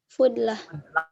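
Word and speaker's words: فضلة: Ay laisa Fadlah coba bacanya apa? Kaifa ustazah? Bukan fadlah, tapi apa coba? Yang lain coba tahu nggak cara bacanya? Fudlah. Fudlah. Fudlah ya, bukan fadlah.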